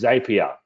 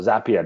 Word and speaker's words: Zapier: your autoresponder, because again, we integrate with Zapier or Zapier, depending on how you want to pronounce it.